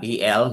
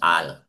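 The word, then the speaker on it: אל: uh brad yung ah el no we pronounce it as al yes al po yun po ang ah correct way of ah ancient value yahudiat na pagkabasa al po ang ating pagkabasa niyan that's referring to ah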